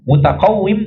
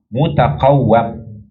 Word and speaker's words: mutaqawwim: Tapi Al-Biqai rahimahullah dalam syarah Umdatis Salik mengatakan al-mutaqawwim bi kasril waw la kama wahamahu ba'duhum annahu yajuzu bi fathiha. Bi kasril waw bukan sebagaimana yang disalahpahami oleh sebagian orang boleh dibaca dengan fathah. Yang benar adalah bi kasril waw.